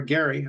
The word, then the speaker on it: Gerry: by the way um Jerry mandering does actually come from uh somebody's name Elbridge Jerry or Gary I believe is is how he he pronounced his name uh but um but